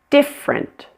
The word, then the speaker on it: different: Listen and repeat, kids, big different. Notice this word has a dropped middle syllable. It's only two syllables.